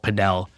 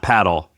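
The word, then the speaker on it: padel: Um it's pretty crazy. It's like is it not? It's not paddle. Paddle. Pedell. Whatever. Same thing. Same sport. I want to say it right. It depends. Like Latin America versus US. Either one is fine.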